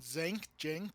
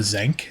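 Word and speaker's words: Xenk: second scene is when when zinc however however it's pronounced zank I think is how they were pronouncing it in the movie is giving his background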